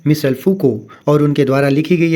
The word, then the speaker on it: Foucault: इनको फूको बोलेंगे, means it इज़ a right pronunciation फूको in accordance to the French language.